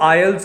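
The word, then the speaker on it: aisles: तो उन रोज को आयंस कहा जाता है यह जो एस है यह साइलेंट होता है यह जो रोज है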